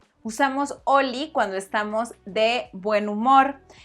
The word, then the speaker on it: Holi: Recuerda que la H es muda. Se dice Oli.